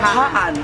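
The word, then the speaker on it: Hpa-An: Yeah, Hpa An. The pronounce is Hpa An, not Hpa An.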